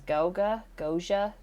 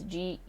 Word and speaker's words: Geauga: Before attending college, he had attended I'm going to mispronounce this, Goja Seminary. It's Geauga Seminary to study religion.